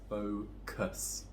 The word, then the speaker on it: focus: So it'll be pronounced as focus, kus.